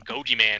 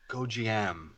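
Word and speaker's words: Gonjiam: Jesus Christ, I can't even watch all the American ones, and you start slapping in Goji Man at me. Gojiam, say it right.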